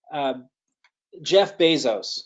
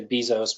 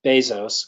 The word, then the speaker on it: Bezos: Some of the famous ones are Jeff Bezos, is how he pronounces his name. Some people say Bezos, but it's Bezos, according to him.